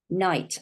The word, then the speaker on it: knight: E.g., silent K is always next to the letter N in words like no. Can't hear it at all, can you? No, knee, knight, that's in a knight